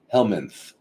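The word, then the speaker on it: helminth: It's one of the stupidest words I've ever heard of, but helmanth. H l m i n t h. Yeah. Yeah. It's just it's spelled as stupidly as it sounds.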